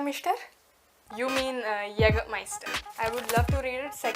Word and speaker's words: Jägermeister: It's too strong, Jagger Mister. क्या? कौन सा Mister? You mean Jägermeister.